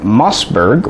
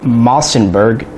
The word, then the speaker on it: Mossberg: of new products from Mossberg or as my father always called them as I was growing up Massenburg seriously I thought there was an extra like syllable that word for 20 years because of him